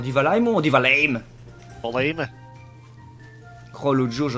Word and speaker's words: Valheim: On dit Valheim ou on dit Valheim?